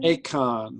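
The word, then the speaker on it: Eacchan: Akon. Okay. And that's spelled E-A-C-C-H-A-N. E-A-C-H. C-C-H-A-N. Akon.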